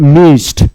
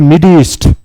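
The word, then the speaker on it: midst: এবার অপশান দেখি, অপশানে বলেছে মিস্ট, উচ্চারণটা বলবে না কিন্তু আবার মিডিস্ট, মিডিস্ট নয় মিস্ট, ডিটাকে তুমি একটু সাইলেন্ট করে দাও, একটু কম উচ্চারণ করো, মিস্ট, মিস্ট, মিস্ট মানে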